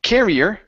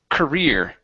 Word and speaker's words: career: your last one is the word career instead of carrier it's career career great great good job